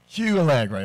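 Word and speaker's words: Kyualegre: I'm just going to keep it real and ask, how do you pronounce the K-Y-U-A-L-E-G-R-E? Q-Allegre.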